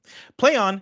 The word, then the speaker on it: Plaion: always exciting end quote play on is pronounced exactly exactly as you would expect like quote play on a phrase stop stop these [